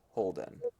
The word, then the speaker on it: Holden: lived a demigod by the name of Crowley Holden and I can spell that if you want yes please uh c